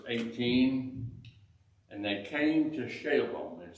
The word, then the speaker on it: Shalem: Now, verse 18, and they came to Shalem, it said, or Shalem. Probably you've already figured out by the way that's pronounced. A lot of times that SH is pronounced as S, Salem.